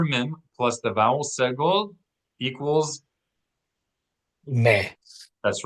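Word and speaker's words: סגול: Segol. Accent the first syllable.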